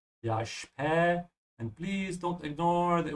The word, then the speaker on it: später: Okay, bis später. Okay, see you later. This is an easy expression, obviously, but I just want to remind everybody that the SP is pronounced like sh. Yeah, spä.